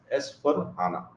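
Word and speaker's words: S/4HANA: of pronouncing it, but SAP guys pronounce it as S for HANA.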